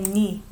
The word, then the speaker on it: 네: When I say here, I didn't say 네. In lyrics, we went over many times. Actually, we don't say 네 in speaking form. We say 니. Because 네, this one, it sounds exactly the same as 네. So it's confusing because this is my. And the other one is your. So when you pay attention to how they're saying later, it's actually 니.